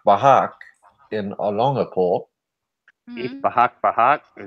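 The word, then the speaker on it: Bajac-Bajac: Bahak Bahak. Is that really how you say it, or do you have a stuttering issue tonight?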